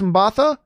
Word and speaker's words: Mbatha: So just like Yaya, and I always wonder if I'm pronouncing Mbatha. I think it's Mbatha. I'm always afraid that I'm saying her name like M'Baku, but she has started to put together a really hot career.